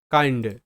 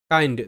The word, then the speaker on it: kind: শব্দগুলো দেখো, বিষয়টা খুব ইজিলি বুঝতে পারবে, যেমন KIND কাইন্ড, কাইন্ড, তো কে তে ক সাউন্ড, IND তো প্যাটার্ন